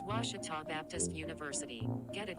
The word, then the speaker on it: Ouachita: at a baptist university back in texas everybody pronounces it wichita but really it's ouachita washington how would you pronounce it it's washita baptist university get it right it's washi tall